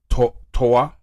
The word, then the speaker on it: Toyah: Over 30 earthquake hit south of Texas, a place called ToYAH. I spell it ToYAH.